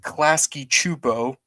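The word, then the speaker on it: Klasky Csupo: before the series premiered the show's production company clasy chupo yes that's how you pronounce it it had made a pilot not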